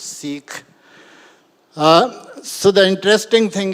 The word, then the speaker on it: Sikh: even uh Richard asked me how do you pronounce it's seek s i h it's not sick it's seik uh so the interesting thing is that uh